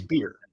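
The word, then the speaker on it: bier: Now, there's also in that link is a button on how to pronounce that word. Oh. And it's beer.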